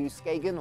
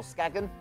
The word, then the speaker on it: Skagen: and we're going into skagen or skagon depending on how you want to pronounce it and with this one